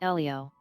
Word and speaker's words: Elio: out he I mean you pronounce it Elio Elio oh sorry um but